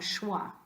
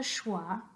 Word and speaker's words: schwa: is an upside-down e we call it the schwa and it's pronounced uh so if you think like the word duh say the word duh that's the schwa sound and when I talk